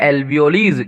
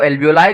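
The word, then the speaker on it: alveoli: उनको हम कहते हैं एल्वियोलीज। क्या कहते हैं? एल्वियोलीज। कुछ लोग इसको एल्वियोलाई कहते हैं।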